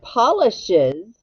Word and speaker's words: polishes: ES and circle it now the word polishes it the es sounds like what Iz that's right now polishes